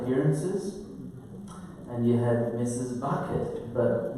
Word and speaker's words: Bucket: Bucket, but Mrs. Bucket preferred to pronounce it Bouquet, to keep up the appearance that she's refined and high class and so forth.